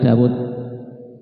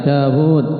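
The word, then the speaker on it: داود: Ya wawunya minta dari Daud. Karena Daud orang Arab membaca panjang dawud tapi gak ada wawu ya. Ya gak usa enak dawud. Kita bacanya panjang enggak boleh daud bacanya apa?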